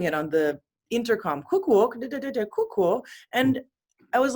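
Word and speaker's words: 空港: Yes, pronounced in Japanese is pronounced Kuukou. Kuukou. I don't think I can even say it properly. Kuukou.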